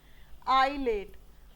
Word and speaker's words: ILATE: याद हो ही जाएगा, LATE स्पेलिंग होती है लेट की, आई लगाना है आपने, आई और लेट, आई और लेट।